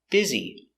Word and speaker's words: busy: Pronunciation, busy. I'm very busy today. B. Z, biz. E, busy. Busy. Busy.